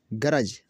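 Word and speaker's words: grudge: बजट में देखें G से पहले D का लफ्ज़ आया, G से पहले D का लफ्ज़ और D क्या हुआ? साइलेंट हुआ। एज किनारा, गरज बैर दुश्मनी, ब्रिज पुल।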